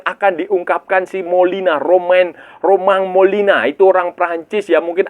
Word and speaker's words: Romain Molina: Beberapa hari lalu itu seorang jurnalis investigasi asal Perancis Romain Molina. Romain Molina ya, bacanya Romain Romain tulisannya tapi bacanya Romain Molina itu dia mengeluarkan men-tweet lah di sosial media dia, dia men-tweet.